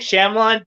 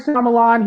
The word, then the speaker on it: Shyamalan: Like, it's not Ong, it's Ang. Like, M. Night Shyamalan, he can make some good films.